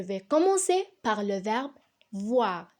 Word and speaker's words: voir: commencer par le verbe voir qui se termine par aux ir et qui se prononce ouah donc je vois première